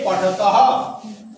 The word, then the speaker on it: পঠতঃ: তে পঠতঃ। তে পঠতঃ। বিসর্গের উচ্চারণ অনেকটা হয়ের মতো, পুরোপুরি হ নয়, অর্ধেকটা হ।